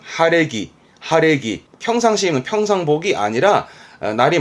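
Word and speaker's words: 晴れ着: 맑아진 그래서 그 맑은 날 입고 나가는 그래서 발음은 하레기 하레기 평상시에는 평상복이 아니라 날이 맑아져 놀러 나갈테니까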